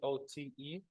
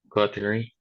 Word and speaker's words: coterie: Coterie. Here, remember that the T is between two vowels, again, as we said, so it should be the sound between D and R.